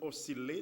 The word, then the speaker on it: osciller: Parce que nous tendons dire filles. Mais prononciation, c'est osciller, distiller, capillaire, comme dans tranquille.